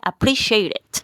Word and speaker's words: appreciated: es un verbo regular Esta última partecita suena como una sílaba más entonces quedaría appreciated es decir al final también suena como it it shaded y vamos